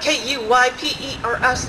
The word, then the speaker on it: Kuypers: I'm like, Kuypers, like the Kuiper Belt in astronomy, like to Kuypers schnapps. You know, it's like, it's Kuypers, it rhymes with Kuyper.